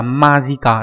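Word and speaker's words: 間近: Thì nó là đọc là magica. Đây mình sẽ gõ ra đây nhá. Đây nó đọc là như thế này.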